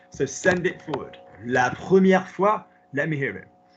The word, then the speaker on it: première: No, what's the pronunciation of the first syllable of the word first? What's the first syllable of the word first? Is it prêt or pro? Prêt. At least you made a commitment, and at least it was one of the acceptable vowels, which is up here.